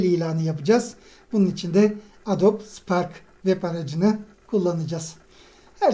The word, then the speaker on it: Adobe: tasarımıyla ilgilenenler Adobe duymuştur adob Adobe diye yazılır da aslında Adobe diye okunur doğrusu da budur Adobe yazılımlarını duymuştur eee